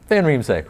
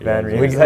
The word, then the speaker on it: van Riemsdyk: Van Riemsdyk. Van Riemsdyk.